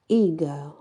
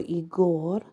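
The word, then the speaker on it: Aegir: animal is the good eager or igore um it is spelled a e g i r but it's also known as eager is e a g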